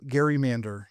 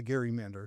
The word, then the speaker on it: gerrymander: I think in some ways it goes back to that original Gary Mander. You know, we that's the right way to say it. It's a Gary Mander.